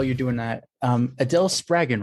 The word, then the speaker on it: Spraggon: doing that um Adele spagen right yes it is rhymes with dragon that's a wonderful name